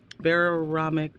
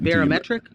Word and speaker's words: barometric: Whether baramomic pressure. How do you say that? Baramic pressure. I had it right. Barometric. Barometric. There it is.